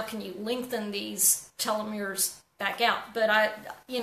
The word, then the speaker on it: telomeres: well in it and specifically in a fun pronouncing this correctly the telomeres te LOM ER e s and those are